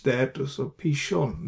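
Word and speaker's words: פִּישׁוֹן: foreign I put a h there to so pishon this is shin with a DOT here on the right hand side so pronounce it as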